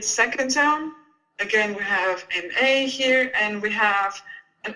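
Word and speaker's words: 麻: in the second zone so that would be ma repeat ma good so again ma repeat ma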